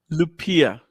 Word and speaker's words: Lupiya: Lupiya. Literally how Lupiya. it's I mean, it's spelled.